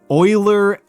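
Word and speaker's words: Euler: Uh the the names I said were Oiler, Erdish, Newton. Uh so Oilers spelled like this.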